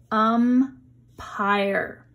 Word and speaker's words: umpire: Umpire. We see the vowels. We are going to have one syllable here, and the E is silent at the end, but it makes the I long.